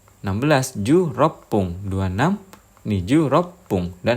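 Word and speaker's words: 十六分: 16 ikut aturan yang 6 menit karena huruf belakangnya 6. Jadi bunyinya pung. 16 ju rop pung.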